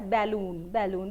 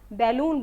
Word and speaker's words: balloon: Now इसका pronunciation मैंने सुना है quite often people use it as balloon because यहाँ पे ये a है इसलिए इसको हम balloon बोलते हैं, but इसका correct pronunciation है balloon.